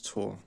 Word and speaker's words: Thor: TH. Thus Thor is Tor, modern Scandinavian. I didn't know about that. It says it's pronounced.